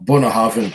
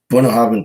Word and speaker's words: Bunnahabhain: Bunnahabhain 12, I would recommend that too. That's spelled Bunnahabhain. It doesn't spell the way you would pronounce it, or doesn't pronounce the way you'd spell it.